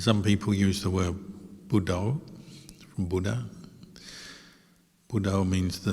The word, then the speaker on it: Buddho: And some people use the word Buddho, from Buddha. Buddho means the knowing, or the one who knows. As you breathe in Bud, you breathe out To. So 2 syllables, just to help keep